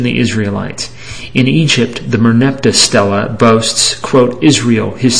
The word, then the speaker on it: Merneptah: In Egypt, the Merneptah stela boasts, quote, Israel, his seed is wasted, unquote, meaning they conquered them.